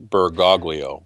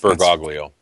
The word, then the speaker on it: Bergoglio: was looking at that earlier uh how about bergoglio bergoglio bergaglia okay bergoglio that's how i would pronounce it okay okay he's a jesuit because